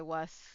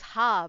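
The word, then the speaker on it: は: note of because I was very confused when I started learning Japanese and like they use ha, but it is pronounced as wa.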